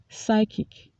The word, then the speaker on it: psychic: psychiatrist said she was suffering from paranoid deletions psychic psychic shows a psychic who was later reviewed